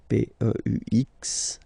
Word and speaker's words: peux: Okay, P-E-U-X. Okay, don't pronounce the final X.